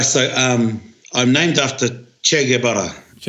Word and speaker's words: Che: So um I'm named after che and and che is an Argentinian revolutionist who became famous and his mahi in Cuba was Fidel Castro. It's pronounced ch like chocolate like chid like chocolate.